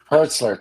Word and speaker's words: Hertzler: um JJ uh Hertz hertzler how do you pronounce his last name J.G hertzler hertzler thank you um Dr Muhammad Noor Doug Jones